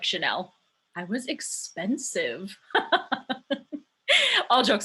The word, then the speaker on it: Channel: You can call me Channel, but it's pronounced like Chanel.